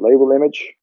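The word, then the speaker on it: labelImg: can annotate the data using label and you pronounce that label image and then links to the uh notebook where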